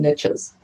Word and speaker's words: niche: riches are in the niches now personally i pronounce it niche so it doesn't rhyme quite as nicely because the riches are